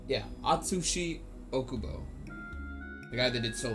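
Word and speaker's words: Atsushi Ōkubo: Gachi Akuto was actually a a student of Atsushi Okubo I think is how you say their name. I always forget it. It's uh I have their books right here. What is it? It's Yeah, Atsushi Okubo.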